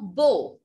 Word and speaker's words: beaux: And if we want to say it in plural, so I will say ils sont beaux. Now this beau and this beau has no difference in the pronunciation.